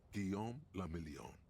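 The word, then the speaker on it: Guillaume Le Million: Gon Lamelon. If it doesn't rhyme, you're not pronouncing it right.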